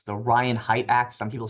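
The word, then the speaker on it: Ryan Haight Act: that's the it's the Ryan height act some people say Ryan hate act I I call I think it's pronounced Ryan height act but someone will tell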